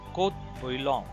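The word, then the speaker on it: court-bouillon: this, that is the courte bouillon. Again, this is the French term. Don't touch the T, don't pronounce the T.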